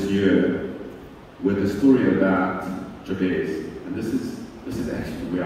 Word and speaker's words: Jabez: So Jabez was, and I pronounce Jabez, you can pronounce it whichever way you like.